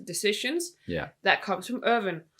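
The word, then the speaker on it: Erwin: yeah that comes from irvin and then we have um or evan alvin if we should stick by the more european yeah german pronunciation um alvin smith alvin yeah uh so but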